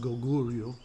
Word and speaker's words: Goguryeo: The kingdoms were this one, pronounced Goguryeo, this one, pronounced Baekje, and this one, pronounced Sheila, you know I want to be the only one.